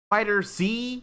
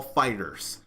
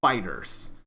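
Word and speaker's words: FighterZ: Dragon Ball Fighters and it says fighter Z yes but it actually is pronounced Dragon Ball Fighters it's actually pronounced Fighters and I will not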